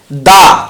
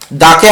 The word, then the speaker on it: the: দাকে আমরা কখনো দা বলি, কখনো দি বলি। ওর উচ্চারণ বিভিন্ন জায়গায় বিভিন্ন রকম করি, এটাও আমরা দেখে নিই। তারপরে আর্টিকেলের ব্যবহারের দিকে আমরা চলে যাব। তো কোনো নাউনের প্রথম বর্ণের উচ্চারণ বা সাউন্ড যদি ভাওয়েলের মতো হয় তাহলে তার সামনে দি বসে।